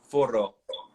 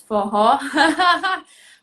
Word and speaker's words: Forró: Um, Stefania, when was the last time you heard Foro? Forró. Forró, this is one of the words that you pronounce it with like a H.